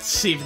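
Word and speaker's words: Ceave: That Sieve guy, it's spelled C-E-A-V-E.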